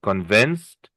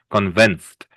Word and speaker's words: convinced: Convinced. We don't really pronounce the ed, just a t. A D, but a soft D, like a T. T. Convinced, relaxed.